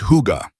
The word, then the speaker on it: hygge: That's when I started learning about something that Scandinavians call huga, pronounced huga.